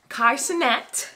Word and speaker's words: Kai Cenat: video of this of these two men before kaisenet i said it right kaisenet because i said his name wrong in the first video and duke dennis